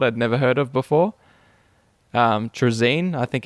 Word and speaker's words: Trazyn: Trazine, I think it's pronounced. Trazyn the Infinite.